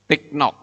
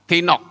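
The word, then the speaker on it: תינוק: Bukan tiknok. Ya. Tinok. Ini kan bacanya tinok, saudara-saudara.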